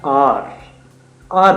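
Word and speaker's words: hour: तो उनके लिए बेसिकली हम हार बोलते हैं, हावर बोलते हैं, बच्चे उसको मिस प्रोनाउंस कर जाते हैं। एच ओ यू आर होता है आर बोलते हैं बेसिकली।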